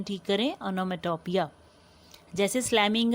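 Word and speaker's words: onomatopoeia: Pronunciation ठीक करें, ओनोमेटोपिया।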